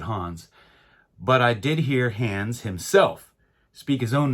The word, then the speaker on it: Hans: player and that is hands lobert and before anybody corrects me I understand that the name hands h-a-n-s is usually pronounced Hans most people pronounce it Hans but I did hear hands himself speak his own